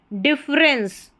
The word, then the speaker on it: difference: ऐसे पढ़ना है इसको, डिफरेंस. डिफरेंस, ई का उच्चारण यहाँ पर हो नहीं रहा है, देखा जाए तो डिफी नहीं पढ़ रहे हैं, डिफरेंस एक तरीके से या तो अ उच्चारण इसका माने, ठीक है।